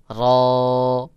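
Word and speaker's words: ر: র এভাবে উচ্চারণ করে যখন র উচ্চারণ করবেন তখন জিহ্বাটা উপরের তালুর সাথে সর্বোচ্চ দুইবার বাড়ি খাবে যেমন র র অনেকে ভুল করে বলে র এইভাবে বলে সহি উচ্চারণ হলো র র উচ্চারণের ক্ষেত্রে অনেকে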